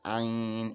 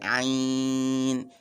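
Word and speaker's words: عين: that is iron so it is always pronounced iron and it is it must be prolonged either four or six so for example so you can see the iron you have to prolong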